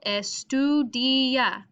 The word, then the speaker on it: estudia: apuntes so estudia los now here i have to underline my second to last syllable estudia estudia now the i and a here are actually kind of go together estudia estudia so here this is going to be what is emphasized estudia so here i need